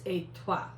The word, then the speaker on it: étoile: It's étoile. I mean- took French in high school. It's étoile.